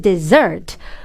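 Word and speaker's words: dessert: the desert 어떻게 보면은 발음 중에서 좀 어려운 축에 상 해당하는 desert이 발음은 입 모양을 옆으로 찢어서라고 말음 하는 거 desert에 포인트를 드세요 자 강세는 이음절 있거든요 desert 사막 아닙니다 desert desert 오케이 그래서이 진동음이 느껴지게 오케이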